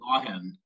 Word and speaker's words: Loughan: So tell them how you pronounce it. Loughan.